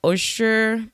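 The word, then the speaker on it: Ochsner: video um where several I think it's pronounced oyster I don't know how to pronounce it o c h s n e r Health employees they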